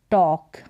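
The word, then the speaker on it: talk: टी लग गया तो टॉल टॉल का मतलब क्या होता है लंबा यह है टॉक टॉक यहां पर यह जो एल है यह साइलेंट है इसको हम टॉल नहीं कह सकते टॉक है टॉक का मतलब बात करना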